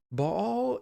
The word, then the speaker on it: Baal: who is baal so baal is a canaanite god now you can pronounce that baal or baal it doesn't really matter uh baal is a